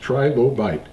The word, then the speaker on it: trilobite: why we call it Tri for three loes trilobite I know I've heard a lot of people say trilobit but the proper pronunciation is trilobite this is a completed number